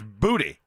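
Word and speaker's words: Boutte: But in Louisiana, it's Booty.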